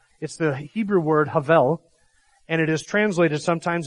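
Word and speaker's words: הבל: in saying them and Havel in Hebrew when you pronounce it that way it's two breaths of hell and you actually have to breathe out as you're saying it and so even in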